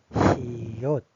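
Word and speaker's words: 시옷: And then next one is this one is siot. siot Siot is sounds like sa. sa Which is s sounds, s sa.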